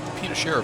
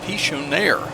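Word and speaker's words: Pichonnière: Uh, we're back on uh I said Pino again. D Pichonaire Valley. I always mispronounce that.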